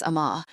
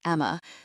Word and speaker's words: Amma: Jesus, Amma. I gasp a cry, hearing his vowels betray him like they used to as he pronounces it Emma.